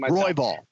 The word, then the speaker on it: Royval: brandon roy bell and that's how you pronounce it i'm always now second guessing roy ball roy ball royval roy ball roy vaughan got it roybal um his last fight